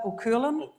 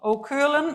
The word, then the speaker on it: Cualann: He's the co-founder and CEO of, how do you say that, Cualann? Well done, spot on. Cualann, which is an approved housing body delivering affordable housing here in Ireland.